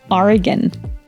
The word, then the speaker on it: Oregon: pronunciation of this State exactly It's oron Oregon whatish Word did mich bmanpronounce meaning a unique Blend of courage and